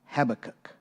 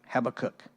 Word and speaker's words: Habakkuk: Habacook. I looked it up and different there was like three different pronunciations and I've always pronounced it Habacook and there was there's different pronunciations of of the cook part.